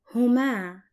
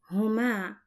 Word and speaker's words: هما: We have reached the last dual possessive pronoun, which is there, and it's pronounced as Huma in Arabic, Huma, and it's represented by the letters ha plus ma plus a. An example for it, their house is pronounced and written like this, بيتهما, بيتهما.